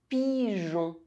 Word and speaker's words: pigeon: G-E followed by A, U, or O, one of the hard vowels, is pronounced J. Pigeon.